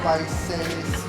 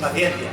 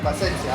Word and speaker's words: Paciencia: Franco Servi, Oscar Mingüesa, Hugo Mayo o Gonzalo Paiseres. No sé cómo se dice. Paciencia. Paciencia, así se dice.